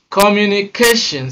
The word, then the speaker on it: communication: For words that end in the following suffixes, they almost always take a stress on the second syllable from the end.